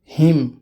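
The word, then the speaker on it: hymn: एन, जब एम के बाद एन आता है तो वो एन भी साइलेंट होता है। कोलम, ऑटम, पतझड़ मौसम को बोलते हैं। कंडेम, निंदा करना। हिम, भजन को बोलते हैं या फिर हम्द, तारीफ करना।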